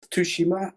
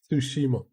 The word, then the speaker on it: Tsushima: pronunciation of it but the one guy said if you want to say um ghost of Tsushima you just say sushi that he disappeared too